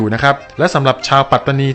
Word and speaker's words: ปัตตานี: ต้อง ออก เสียง ว่า ปาตานี ซึ่ง เป็น ความ เข้า ใจ ที่ ผิด ครับ คำ นี้ ไม่ ได้ ออก เสียง ว่า ปาตานี นะ ครับ ต้อง ไม่ ลืม นะ